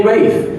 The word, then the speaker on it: Ralph: Ralph and Ray buys it's spelled Ralph but you have to call me Rafe he's